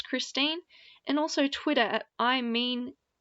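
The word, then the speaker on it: Christeine: called do you by christine ian i'm sorry i pronounced that wrong christine anyway you can find it on youtube christine so CH r IST ein e and also look for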